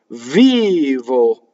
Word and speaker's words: vivo: Vivo. Notice that the accent is on the V, and I'm distorting again for singing vivo.